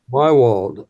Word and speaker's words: Maywald: Here's the conversation that Robert had with Maywald. Is that how you pronounce his last name? Mywald, Mywald. Okay.